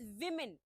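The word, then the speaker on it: women: छोटी इ की मात्रा म और न इट्स वीमेन rather than वुमेन और वुमेन इट्स वीमेन सो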